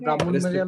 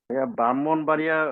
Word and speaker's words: ব্রাহ্মণবাড়িয়া: ব্রাহ্মণবাড়িয়া উচ্চারণটা ভুল, হ্যাঁ, উচ্চারণটা কি হওয়া উচিত? ব্রাহ্মণবাড়িয়া। ইয়েস, ব্রাহ্মণও বলা যাবে না, ব্রাহ্মণ। ব্রাহ্মণ ময় হয় সংযুক্ত, ময়ের সঙ্গে হয় সংযুক্ত, উচ্চারণটা কিন্তু কঠিন।